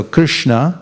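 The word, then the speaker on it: Kṛṣṇa: the board there this when there's a DOT under the S it's pronounced sh so Krishna H har Krishna H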